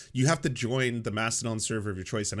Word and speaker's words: Mastodon: It's pronounced Mastodon. Oh, sorry, Mastodon.